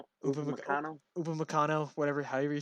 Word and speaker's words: Upamecano: How do you pronounce his name? Upamecano.